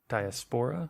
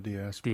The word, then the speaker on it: diaspora: that word I should have looked up the pronunciation diaspora yeah diaspora diaspora yeah yeah it's one of those ones